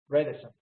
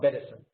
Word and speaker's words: Bredesen: Bredesen, not Bedesen.